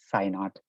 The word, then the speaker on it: Sainath: So my name is pronounced similar to the Greek symbol psi with a subscript 0, so it's Sainath.